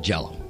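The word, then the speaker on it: Green Jellÿ: trademark so the band changed the name from Jello to jelly but still pronounced it Jello so also they proclaimed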